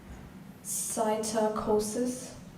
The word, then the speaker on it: psittacosis: Your word is cytocosis. Definition, please. A contagious disease of birds. Sentence, please. Some birds with cytocosis lose their feathers. Could you say it slowly? Cytocosis. Cytocosis.